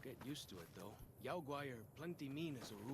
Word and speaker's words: Yao guai: He said Yao Gua? I always pronounced it Yao Guai.